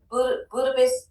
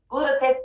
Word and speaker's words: Budapest: Buddhap. Budapest. Hungary. Budapest. That's how you say it.